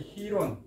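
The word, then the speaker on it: Girón: 이제 다 정리하고 요거의 희론, 요거 G자를 H로 발음합니다. 요 희론인데 미국에서 말할 때 피그스만 침공이라고 유명한 침공이 하는데 침공이 있었어요. 근데 이걸 걔들이 왜 돼지꼬리 많이 갖는지 몰라도 이 사람들은 희론이라고 해요.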